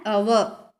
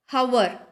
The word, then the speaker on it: hour: For example, an ant, an enemy, an ice cream, an orange, an umbrella, an hour. So here, notice the word hour is H is silent here. Hours start with the vowel sound.